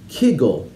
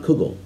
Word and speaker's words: kugel: of pasta not looks in lithuanian speakers of yiddish by the way pronounced it kegel not kugel this disputed pronunciation is